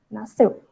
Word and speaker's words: nasceu: Então, nasceu, o SC, apesar de serem duas letras, elas vão ter o som do S. A gente fala nasceu.